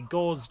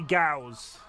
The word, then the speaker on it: Gauss: you're now watching yet another VOD it's basically Gau grinding and I pronounce g wrong we put we it's actually GS um but I pronounce it wrong and you